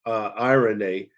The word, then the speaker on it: eirene: We also covered that in the Greek, that word peace is eirene, and it's spelled E-I-R-E-N-E.